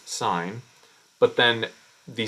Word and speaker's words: sin: sign uh name so s i n as we pronounce sign but then the S